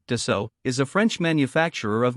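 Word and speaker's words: Dassault: Aviation Dasa Aviation sa French pronunciation de so is a French manufacturer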